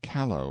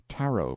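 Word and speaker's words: kalo: and is prepared from the callow or Taro plant k and t are the same in the kanaka alphabet and so are L and r taro root looks like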